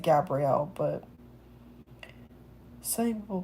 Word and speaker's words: Gabriel: I always pronounce it Gabriel, but some people pronounce it Gabriel.